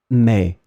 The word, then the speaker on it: mais: Mais tu as raison. Mais tu as raison. So as you can see, the meaning is totally different, but you will pronounce them the same way.